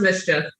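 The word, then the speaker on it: MSCHF: it's a company called ms cheat yeah it's pronounced mischief but msu uh came out with them which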